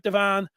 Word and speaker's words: Devon: I know it looks like Devon, but he pronounces it Devon.